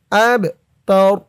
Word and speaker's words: أبتر: হামজা দিয়ে বা ধরবে, এই বাটা কলকলার হরফ, ধাক্কা দিয়ে পড়তে হবে। আবে, হুয়াল আবে। তা জবর তা, র পেশ রু, অক্ফ করার কারণে রর উপরে পেশটা সাকিন হয়ে যাবে। উচ্চারণ হবে এখানে আব তার, আব তার, হুয়াল আব তার।